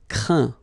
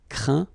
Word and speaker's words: craint: Craindre, craint. Contraindre, contraint. Plaindre, plaint. Okay, and as usual, final T here is not pronounced, so you get craint, contraint, plaint.